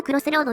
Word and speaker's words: 十字路: 偵コナン、迷宮のクロスロードだよ。